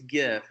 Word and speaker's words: GIF: is I'd call it Jeff Jeff it's ji ya ji ya if I pronounce it like the peanut butter because that's what the